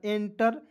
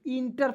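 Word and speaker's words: enter: एन टी ई आर एंटर एंटर means होता है प्रवेश और बहुत लोग इंटर पढ़ते हैं अरे यार आई एन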